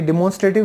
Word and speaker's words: डेमोन्स्ट्रेटिव: Next है हमारा डेमोन्स्ट्रेटिव, ये डिमोन्स्ट्रेटिव नहीं है, इसकी करेक्ट प्रोनाउंसिएशन है डेमोन्स्ट्रेटिव।